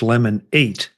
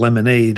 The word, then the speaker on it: Lemon8: That's Lemon8, as in the number 8, Correct. not Lemonade, as in Correct.